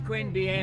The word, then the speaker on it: Queanbeyan: to Queen bian okay Queen bian that's how you say it it's Queen bian I you can be